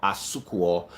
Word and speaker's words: Asuquo: Why don't you send Wilfred a DM at Wilfred underscore Asukwo. Wilfred is spelled WILFRED.